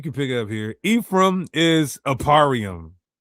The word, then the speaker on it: Ephraim: Here's the pronunciation literally right there. Eph raim. Ephraim or Ephraim. Nothing even closely sounding remotely to Aparium.